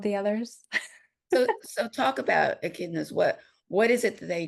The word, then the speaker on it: echidnas: Is that how you pronounce it? Echidnas.